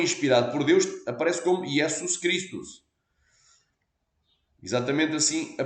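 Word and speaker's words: Ἰησοῦς Χριστός: Novo Testamento foi inspirado por Deus aparece como yesus cristos exatamente assim a pronúncia e em Latim é exatamente a mesma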